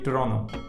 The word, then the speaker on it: Toronto: the people of Toronto, never ever pronounce the second T in Toronto. Instead say Toronto. But for this video, I will stick to my natural accent and say Toronto.